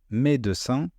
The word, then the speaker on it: médecin: Médecin, médecin.